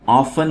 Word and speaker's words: often: Ali and Ahmed often have disputes about silly things. दोस्तों ये word often है और इसमें T साइलेंट है.